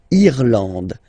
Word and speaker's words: Irlande: Irlande. Irlande. Okay, A-N, en, D, and final E, not pronounced.